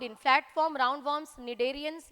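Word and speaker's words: cnidarian: पूछा है तो ये निडेरियंस में ही पाया जाता है, ठीक है, यहाँ पे सी साइलेंट होता है, कई लोग स्नाइडेरियन बोलते हैं बट स्नाइडेरियन और स्नाइडोसाइट इज not correct pronunciation, it is cnidocyte.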